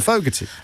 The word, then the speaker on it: Fogarty: But now it's time for Fogarty. Rhymes with rugger.